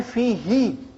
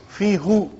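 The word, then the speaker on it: فيه: But why fihi and not fihu? No, try. When you go home today, go home and stay in front of the mirror and say fihu and then say fihi. See, look at your face. It's easier to say fihi instead of fihu. Okay? So it became fi-hi.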